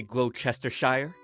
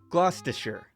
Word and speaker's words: Gloucestershire: They don't say Gloucestershire, but instead Gloucestershire.